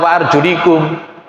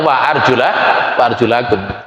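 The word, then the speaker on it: وَأَرْجُلَكُمْ: Bahkan ijma di kalangan sunnah, ahli sunnah wal jamaah, semuanya imam-imam qiraat membaca ayat ini boten dibaca wa arjulikum. Semuanya membacanya wa arjulakum.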